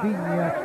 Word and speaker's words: Viña: Cuando te digo Viña, es porque el propio Viña me dijo que se pronuncia de esa manera.